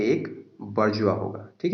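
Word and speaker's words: bourgeois: ठीक है दोस्तों, मिस प्रोनाउंसिएशन ना करें, बारजुआइज नहीं कहेंगे, बारजुआ कहते हैं।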